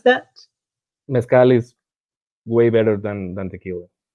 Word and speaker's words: mezcal: metscal it's better than tequila how do you pronounce that mezcal is way better than tequila good so everyone